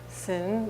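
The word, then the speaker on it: 心: So the character that's sometimes inserted in the 841 version is Sin, which means it's spelled H-S-I-N in transliterated form, and it looks like that.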